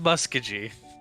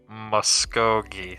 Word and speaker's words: Muskogee: smith i'm not in muskegee for everyone at home it's pronounced muskogee say it halo muskegee